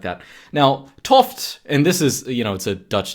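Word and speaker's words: 't Hooft: fight pseudo science and stuff like that now tof and this is you know it's a Dutch name it's spelled like apostrophe T and then space h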